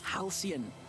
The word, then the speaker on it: halcyon: That word I've seen so many times, and I always would say it wrong. And then I finally started hearing it pronounced like that. And I'm like, oh, yeah. I think I always swapped the, or added an L, so it was like Halcyon. I put a hard K and a hard C into it.